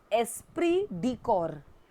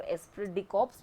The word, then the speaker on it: esprit de corps: Now the correct pronunciation of this word is esprit de corps, लेकिन हम लोग बोलने के लिए बहुत से लोग इसको एस्प्रिट डी कॉर्प्स भी कहते हैं. Otherwise the correct pronunciation is एस्प्रिट डी कॉर्प्स.